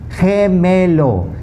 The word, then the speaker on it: gemelo: But if a G is followed by an E, the sound completely changes again, just like the C. So GE is pronounced ge, as in gente. Gente means people. Gemelo.